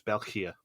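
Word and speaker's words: België: you need to pronounce that e separately so phonetically in english it's belkir and it's it's deeply ironic given that last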